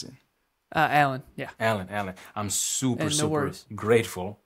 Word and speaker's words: Alan: How do you pronounce it? Alan, yeah.